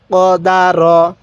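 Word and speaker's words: قَدَرَ: দা র জবর র কদার কিভাবে শিখবো কদার এরকম ভাবে পড়বো তাহলে আরেকবার বলুন কদর হ্যাঁ কদার অনেকেই কাদ র পড়বো না এরকম ভাবে শিখবো না কদার এরকম ভাবে পড়বো কফ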